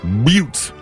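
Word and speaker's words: Buttes: called the Suter butes spelled b u t t s but pronounced butes uh it's a circular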